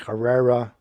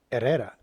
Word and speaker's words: Herrera: saw corrupt officer era mispronounce his uh Spanish last name with a hard H he said Herrera I don't know why he's that maybe he's not Hispanic but uh Hispanics or chos or Mexican Americans when they have a name like that they don't pronounce it as Herrera it it kind of looks like they're trying to suck it up to the anglos so his I pronounced his name properly era and admitted that uh